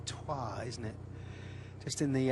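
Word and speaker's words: Troyes: from him 24y old from Troy or twah I think it's pronounced is I've always thought that was pronounced Troy but it's twah isn't it just in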